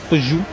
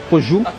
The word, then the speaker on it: Peugeot: It is pronounced Peugeot. Peugeot. Peugeot.